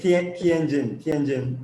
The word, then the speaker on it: Tianjin: Tianjin? I should be learning Yes, Chinese. Tianjin. That's right. Tianjin and other Yeah. cities. Yes, he cooperates he cooperates, I'm sorry, startup castle with the Tianjin local government, a project that incubates early stage